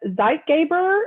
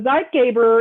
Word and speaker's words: Zeitgeber: say it first so zeitgeber is the stimulus that resets circadian rhythms and it's a german word and that actually means